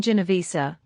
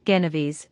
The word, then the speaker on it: Genovese: Kohan, the names you mentioned are well known to us, but you mispronounce them. The first is called Adamski, the second, Genovese, and the third, Mihalik.